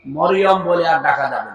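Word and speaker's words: مريم: মারিয়াম বলা যাবে। এই কথা বুঝতেছে? কি বলা লাগবে? কারণ এই শব্দটা আল্লাহ কোরআনে দিয়েছেন, একটা সূরায় নাযিল করেছেন, সূরা মারিয়াম। আপনার 40টা নেকি হবে এই শব্দটা উচ্চারণ করলে। মিম র ইয়া মিম, মারিয়াম। 40টা নেকি পাবে না। যদি মরিয়ম বলে 40টা গুনাহ হবে, কারণ অর্থ বিকৃত হয়ে গেছে।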